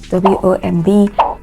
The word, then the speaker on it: womb: You have a word like COMB, WOMB. These words have the final B sounds silent, so they are not pronounced.